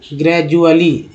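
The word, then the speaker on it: gradually: अब यहाँ पर बताइए डी कहाँ पर, डी का उच्चारण क्या हुआ। साइड से बात तो ग्रेजुअली बोल रहे हैं तो डी का उच्चारण ज के रूप में हुआ है।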